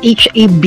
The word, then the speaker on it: HaB: I just pronounced it as HaB Korea. It should be pronounced as HaB Korea, not HAB Korea.